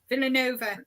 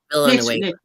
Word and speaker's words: Villanueva: There, Elaine Villanova shared my first, yeah, so sorry, Linda, how do you say that? Villanova. Yeah, that's Nueva. Nueva. Villanueva.